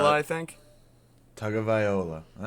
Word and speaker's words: Tagovailoa: He says, Tua Tagovailoa, Alabama.